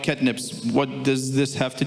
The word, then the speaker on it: Ketnipz: name of can you please say how to pronounce it so that I wouldn't butcher it yeah catnips just catnips yeah cnips Kip okay so cnips has three